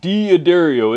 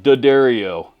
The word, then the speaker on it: D'Addario: Not D'Addario, it's pronounced D'Addario.